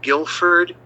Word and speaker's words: Gilford: And so he said, keep the U out of it, just Guilford, Gilford.